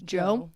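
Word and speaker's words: Djo: D-Joe, but it's pronounced Joe Keery.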